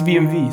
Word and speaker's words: BMW: pronounced v yes it's vmv so it's a romantic it's a romantic language so the w becomes v and in some other